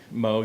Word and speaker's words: Moog: The Moog or Moog? Moog. It is pronounced Moog.